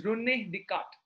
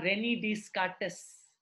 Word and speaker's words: Descartes: The pronunciation is René Descartes, not René Descartes, that many people say René Descartes.